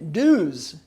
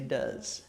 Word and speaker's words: does: do yeah yeah and it looks like it ought to read dues where news the Congress but that's not the way we say it we say does weird does and then because